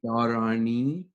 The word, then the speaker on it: dharani: I think it's actually dharani. Dharani. Yeah, it's every time you see that dash, it's like dharani. Yeah. And so it's pretty lengthy, and it's like pranayama.